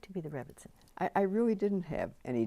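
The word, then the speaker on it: Rebbetzin: The Rebbitzin. The Rebbitzin? The Rebbitzin. Okay, thank you very much. So the Rebbitzin, the wife of the rabbi, you have certain duties. So what's it like to be the Rebbitzin?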